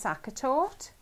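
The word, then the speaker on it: Sachertorte: Sue Hare says she likes sakatort, just to be different. She's a zaga, and you There's you're that. Now, zagging with I've seen a Have you? sakatort, but I've never tasted it.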